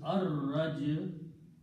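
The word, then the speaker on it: الرجع: Then again we do the same thing, put an al, the returning, okay, and again al will remove one dhamma and it will be pronounced as ar-raj-u.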